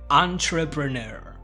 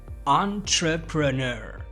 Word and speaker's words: entrepreneur: Entrepreneur. You see, when the T is close to the R sound, it turns into a Ch sound. Therefore, you're gonna say tr, entrepreneur.